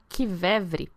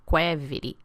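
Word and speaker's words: qvevri: do episódio 80 inclusive lá eu falava Kev porque eu não tinha referência Agora aprendi que é quev que a gente pronuncia aquela espécie de ânfora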